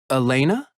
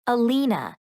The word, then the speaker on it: Alina: name it's alina elena no alina a l i n a oh alina it's nice